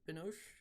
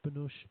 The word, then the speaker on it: Binoche: I can't pronounce her last name. Binoche. Yeah, yeah, her. But yeah. Yeah. Um, Juliette Binoche. Juliette Binoche.